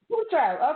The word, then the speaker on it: Tatro: Tatro. It's who is Tatro, mom. but yeah. Tatro. Okay. Oh my God. All right. Well, try pronouncing my name, everybody.